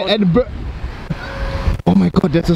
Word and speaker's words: Edinburgh: when we reach Edinburgh tomorrow, right?